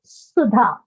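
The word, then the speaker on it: सुधा: Like I said, my name is Sudha, which is with a sound.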